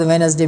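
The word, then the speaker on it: Wednesday: है फिर उसके बाद वेनसडे में डी साइलेंट है फिर कासल में टी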